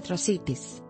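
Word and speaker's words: Atrocitus: este personaje de dc se pronuncia tro cities marcando un sonido suave en la r imagen 13 4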